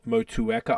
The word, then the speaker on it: Motueka: and motueka okay um I'm probably butchering the actual pronunciation I think most people say motueka I say moteka but like you might